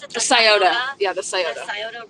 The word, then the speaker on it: Scioto: His body was discovered and how do you pronounce it? The Scioto.